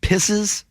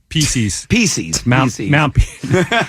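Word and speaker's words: Pissis: Is it Pisses? Pisces. Mount Piss. Yeah, no, Mount Pisces.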